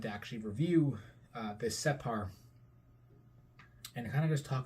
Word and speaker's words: separ: it is a separ separ or doll um separ being the pronunciation for it and its use in the